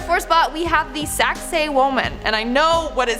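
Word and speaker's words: Sacsayhuamán: yet in our fourth spot we have the saxay woman and I know what it sounds like but that's how you pronounce it so just I know I know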